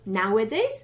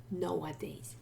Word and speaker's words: nowadays: okay nowadays nicholas nowadays be careful of pronunciation lots of polls confuse that and switch the two initial vowels samogosky so it's nowadays not nowhere days no no no not